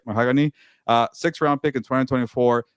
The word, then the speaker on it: Mahogany: How do you say Mahogany? There you go. It's like a color, right? Mahogany.